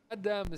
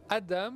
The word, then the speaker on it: Adam: présentation avec Emmanuel Albisser adame ça s'écrit AD mais ça se prononce Adam c'est la nouvelle petite